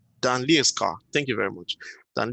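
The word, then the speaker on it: Lejerskar: Dan, how do you pronounce the name? Leaskar. Dan Leaskar.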